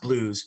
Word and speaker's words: Bluez: like no it's pronounced it's pronounced blues but it's spelled b-l-u-e-z um and they would